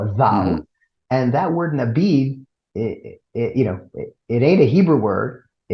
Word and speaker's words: Nabidh: Okay, we might pronounce that as Nabidh, but there's an Arabic word Nabidh, which is a DH, if you will, a vowel, Mm-hmm. and that word Nabidh, it ain't a Hebrew word.